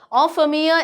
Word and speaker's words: en famille: En famille is a French word. Being a French teacher, yes, I can tell you it's en famille, that is with one's family. That's the pronunciation.